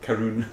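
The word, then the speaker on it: Caorunn: Karun.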